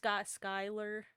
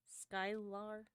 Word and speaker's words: Skylar: It is pronounced Skylar. Skylar. But thank you.